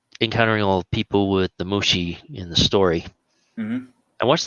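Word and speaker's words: Mushishi: will proun yet another anime title wrong uh mushii uh actually you pronounced that right oh wow that was about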